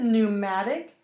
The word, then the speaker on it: pneumatic: prowl pneumatic notice a pneumatic the P is silent fragile fragrant so let's